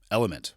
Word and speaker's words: LMNT: to you by element lmnt which is pronounced element or keep calling it elemente if you want to